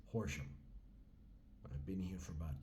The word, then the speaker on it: Horam: am getting by in ham England horam England pronounced horam I've been here for about two and a